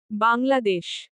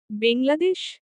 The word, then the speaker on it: বাংলাদেশ: বাংলাদেশ। বেংলাদেশ? নো ইটস বাংলাদেশ।